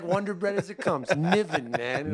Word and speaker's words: Niven: Niven, you said it right. All right. You wouldn't believe how many people they don't know me. They're coming to the stage. El Niven. You know? Naveen.